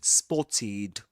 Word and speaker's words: spotted: So we say we double the t and we say spotted. Spotted. The final pronunciation the pronunciation of the ending the ed ending is eid.